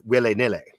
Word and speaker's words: willy-nilly: The actual root of that is will he, nil he, and if you pronounce that in what is like understood to be Elizabethan, what they call original pronunciation, it's wille nille.